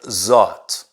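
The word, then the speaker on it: zaat: the metriak tradition there is a concept called zot and it's spelled z double a t that's a it's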